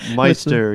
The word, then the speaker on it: Meister: Wow, that's Meister with, am I pronouncing your last name right, I hope? Yep, Meister, yep.